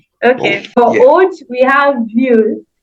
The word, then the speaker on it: vieux: For old, we have vieux. It's spelled Vieux for masculine, and the feminine is vieille, which is Vielle.